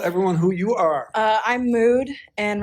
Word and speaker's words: Mood: I'm Mood, and right now I'm dressed as Wednesday from Wednesday, but I just don't wear wigs when I cosplay.